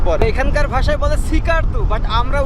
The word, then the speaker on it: Skardu: বাট বালচিস্থানের ভিতরে আবার স্কারদু পড়। এখানকার ভাষায় বলে সিকারদু। বাট আমরা উচ্চারণ করি স্কারদু।